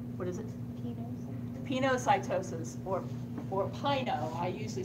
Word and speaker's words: pinocytosis: But I usually say pinocytosis because it rhymes with, I think this is a word for it. It rhymes with wine and wino drink. Pino, wino.